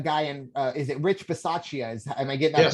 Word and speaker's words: Bisaccia: They'll be back at home, but they have a guy in, is it Rich Bisaccia? Am I getting that pronunciation correct?